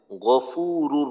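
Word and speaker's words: غفور: ইন্নাকা আনতাল গফুরুর রহিম গাইন জবর গন গা না হয় গাফুরু যেন না হয় গফুরুর রহিম গফুরুর রহিম আচ্ছা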